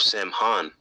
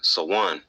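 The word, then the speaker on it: Samhain: harvest Gaelic Festival of Sam Han pronounced so one a time when Tower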